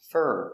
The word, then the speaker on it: for: For is pronounced fur when it's not stressed. And it's not stressed here.